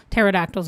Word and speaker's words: pterodactyls: a dinosaur bird so pterodactyls are my favorite also because it's spelled with a silent p and I just think